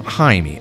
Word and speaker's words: Jamie: I know everybody calls him Jaime. I'm going to call him Jamie. It's spelled Jamie. I'm going to say Jamie.